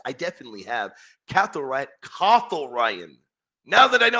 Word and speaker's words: Cathal: Cathal Ryan. Now that I know how to pronounce my dear brother's name, and I want